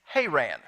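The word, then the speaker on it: Haran: to go to her Anne now the correct pronunciation is hay ran but we don't say it that way in Oklahoma so I'm gonna stick with her ran if that bothers you and I doubt it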